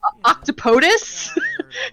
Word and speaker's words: octopodes: other way round so it would actually be octopodes but it would be pronounced octopodus i think i think i'm saying that right but uh yeah he